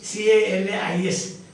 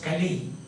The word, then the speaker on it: Calais: Calais, C-A-L-A-I-S, but it is pronounced as Calais, C-A, not Calais, like that.